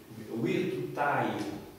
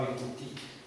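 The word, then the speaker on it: virtutei: Mais sauf qu'en latin classique, c'est pas EI, c'est un I tout court, parce que c'est du vieux latin. Donc ça ressemble un petit peu au grec, au niveau de la prononciation, c'est virtutai. Ça va? Et non pas virtuti.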